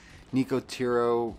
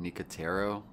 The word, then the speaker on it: Nicotero: It's a Nicotero, I believe that's how you say it, Nicotero.